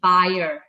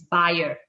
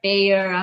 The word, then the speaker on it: Bayer: company right so uh the correct way of pronouncing uh bayer is actually buyer yeah it's a german player it's a german company so uh the correct one is is buyer yeah i mean there's